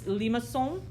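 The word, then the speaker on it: limaçon: going to talk about this is pronounced a and i'm going to kind of butcher it it's a french word it's limasson i said it right i do know that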